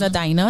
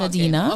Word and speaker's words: Adina: It is Adina, not Adina.